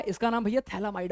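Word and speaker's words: phthalimide: थैला माइड है भैया पीएच पीएच साइलेंट है क्या नहीं भैया ये पीएच साइलेंट नहीं है पीएच का मतलब होता है फिनाइल की रिंग ठीक है हां ये साइलेंट पायलेट मत कहना इसको फिर इसको फर्द हम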